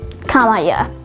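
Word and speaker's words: camaieu: word of the day is kamaya spelled c-a-m-a-i-e-u-x kamaya kamaya is a noun that derives from middle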